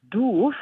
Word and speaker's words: doof: across a word called doofus, which for me as a German is very hilarious, because doof, written the way it is, but pronounced doof, is like a word for to be stupid or daft.